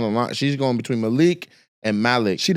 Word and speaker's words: Malik: Malik, bro. Hey, it said kafu. Yeah. M A L I K. Yeah. So correctly like in Malik. Malik. Mal. So So we all say it wrong.